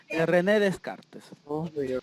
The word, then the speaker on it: René Descartes: primero que vamos a encontrar aquí está su pronunciación en rené descartes que es lo que dice rené descartes es